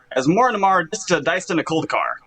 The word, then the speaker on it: Asmoranomardicadaistinaculdacar: magic the gathering card as more and more diced in a cold car that's how you say it wow that was a